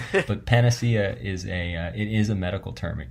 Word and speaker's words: panacea: It looks like it's pronounced panacea, which I think is what you said.